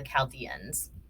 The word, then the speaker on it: Chaldeans: video so I apologize the correct way to say this group of people's names is the Chaldeans the Chaldeans were semi-nomadic